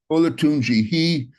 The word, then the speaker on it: Olatunji: How do you pronounce his name? Is it Michael Alatunji? Is that Olatunji, Olatunji, Alatunji? Okay. Ola, Olatunji.